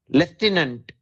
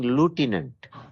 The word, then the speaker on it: lieutenant: Americans Uh but the the military thing leftantant the spelling is L E I U or so they started reading lieutenant you know uh and then when they fancy something they'll take somebody else's.